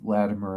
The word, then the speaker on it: Latimer: and Colin bass I've been corrected on my pronunciation of that name Andy Latimer and Colin bass uh regarding the history of